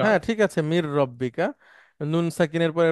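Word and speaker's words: من ربك: okay sir রব্বিকা এখন যদি একসাথে যে বলি মির রব্বিকা মিন রব্বিকা হ্যাঁ ঠিক আছে মির রব্বিকা নুন সাকিনের পরে র আসলে একটা তাসদিদ হয়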